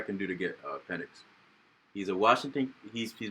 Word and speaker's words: Penix: year behind Gino while it's not even pronounced penix is literally penix no it's penic penic I was I was